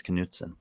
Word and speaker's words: Knutson: Well, you pronounced his name most likely incorrectly once, and you've done it again. I mean, I'm not sure, but I think it's Knutson.